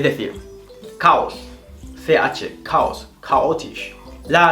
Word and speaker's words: chaotisch: Pero al principio de la palabra, la CH se va a pronunciar como una K, prácticamente. Es decir, caos. CH, caos, chaotisch.